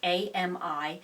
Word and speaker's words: Ami: Scott's buy the brand I think it's pronounced Amy it's ami this is a size